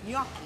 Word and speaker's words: gnocchi: Gnocchi.